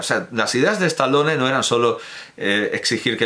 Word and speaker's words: Stallone: Ya Sylvester Stallone... ¿Por qué lo pronuncio a la inglesa? Stallone, ya Sylvester Stallone en